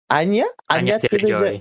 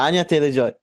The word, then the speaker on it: Anya Taylor-Joy: Peach is played by how do you pronounce this name? Anya Taylor-Joy. Yeah, Anya Taylor-Joy.